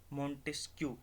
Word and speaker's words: Montesquieu: ठीक है, ये एक थ्योरी आती है, जो नाम से पता चलता है, जो बंदा देता है उसका नाम होता है Montesquieu, मोंटेस्क्यू।